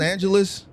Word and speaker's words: Angeles: Yes, you spell it like that because it's Angel ES. Oh, okay. You must be Spanish. So Angel in Spanish.